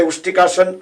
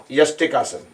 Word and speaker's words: Yastikasana: I always say Ustikasana, stick pose, but actually it pronounced as Yastika. Yastika. Yastika, not Ustika, but Yastika. So Yastika, Ustra, and Utkatasana. So minor correction on Yastikasana.